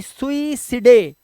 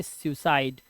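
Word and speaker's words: suicide: नहीं पढ़ेंगे ऐसे ही सुई सिडे नहीं पढ़ेंगे इसे पढ़ेंगे सुसाइड और इसी तरह से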